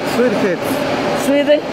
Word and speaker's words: Suedeheads: Se pronuncia Swedeheads. Swedeheads. Swedeheads.